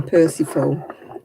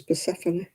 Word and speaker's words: Persephone: Man, there's not many people called Persephone anymore, is there? That's written Persephone. I know I read a book all the way through and I was reading Persephone. Then I found out afterwards it was Persephone.